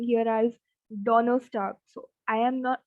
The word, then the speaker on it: Donnerstag: Next is Thursday as Donnerstag.